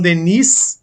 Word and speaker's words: Denis: YouTube do Educandário Leon Denis, tá? Tem esse S aí, se pronuncia só Deni, mas tem esse S no final, OK?